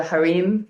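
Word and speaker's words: harem: like in other countries they call it the harim, but here in America he called it haram. That's why I pronounce it that way.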